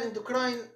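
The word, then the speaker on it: endocrine: البته هي فصتها هالبخلايا تشيف سيل اندوكرين او اندوكراين سيل، عادي اندوكرين ينطقوا فيها الامريكان، اندوكراين بالانجليزي فانت بجوك، بارايتال سيلز، ميوكوزال نيك سيلز، وسيرفس ميوكوزال سيلز.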